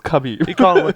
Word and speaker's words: Khabib: Well, it's spelled Khabib, but Okay. it's pronounced Habib. Well, I'm American, so it's Khabib.